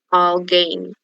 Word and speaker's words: alguém: Alguém. Oxítona. Isso, oxítona. O acento gráfico está aqui, né? Na última sílaba, então ela é oxítona.